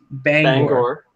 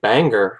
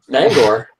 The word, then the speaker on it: Bangor: so many people say banger, which is just ridiculous because it's an O at the end, not an E.